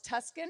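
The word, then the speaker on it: Tusken: a special sign language there as well as Tuscan that's how you say it yep and was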